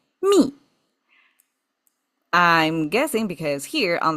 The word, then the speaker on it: 密: And it pronounced the same. Me.